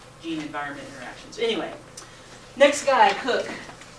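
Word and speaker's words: Koch: Anyway, next guy, Cook. It's pronounced Cook. He's German.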